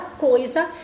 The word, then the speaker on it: coisa: a palavra coisa e observe que ou pronunciar a palavra coisa esses esse é se ele não tem o som do essa ele tem um som do z coisas usá observe né